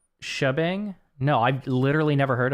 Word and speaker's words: shebang: heard the word probably it's just pronounced like shabang no I've literally never